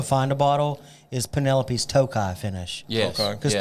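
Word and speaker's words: Tokaji: what's funny is it got really popular on like TikTok, and everybody was like this Takaji finish, Takaji. What you don't understand it's Tokai.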